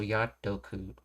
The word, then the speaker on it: やっとく: But when you shorten it, the O that gets dropped, its sound gets bled into the previous syllable, so te becomes to, so Yatoku instead of Yate Oku.